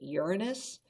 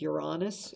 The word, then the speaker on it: Uranus: um goal to get they sometimes pronounce it uranus but i think uranus is better almost like you're saying you're honest it's the seventh planet